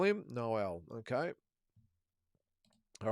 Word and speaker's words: Noel: Theo says, "Uh, Null Melanian, pronounced like the Christmas carol." Noel. Okay. Noel Malian, we'll call him Noel.